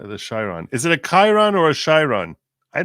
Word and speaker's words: Chiron: simply Chiron do not say Chiron or shiron shiron is a car this is Chiron Chiron Chiron on you